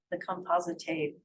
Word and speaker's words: Compositae: So you have a composite of like hundreds of flowers, and that used to be called the Compositae family. That's how you pronounce it.